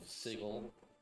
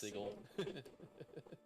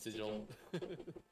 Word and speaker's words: Sigil: mostly takes place in the central city of sigle which is spelled sigil but pronounced sigle I think it's actually like illegal to say it pronounce it sigil bigle yeah it's a city of like where